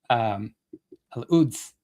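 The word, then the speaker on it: Al-Quds: Al-Uds. The coup, like Kshama's, like Kshama's name is silent. The Q is silent.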